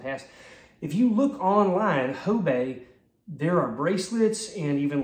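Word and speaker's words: Hobé: a brand name and it's h-o-b-e that is not hoobe it's not Hobie it's Hobe I believe now I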